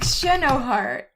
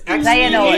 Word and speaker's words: Xehanort: I thought his name was like Xenoheart. No, it's Xehanort.